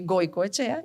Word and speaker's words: Goicoechea: Yo soy Goico Echea y le pusimos Goico al a la hamburguesería. Goico con K. Mi apellido se escribe con C.